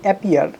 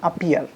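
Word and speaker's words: appear: সো খুবই ভুলভাবে উচ্চারিত একটা শব্দ, আমরা এটাকে বলি অ্যাপিয়ার, কিন্তু এটা অ্যাপিয়ার না, ইট শুড বি আপিয়ার। কিসের মতো বলবো আমরা? আপিয়ার। ওকে, তো এটা অ্যাপিয়ার না, ইটস আপিয়ার।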